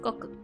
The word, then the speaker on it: 国: The second kanji is pronounced goku.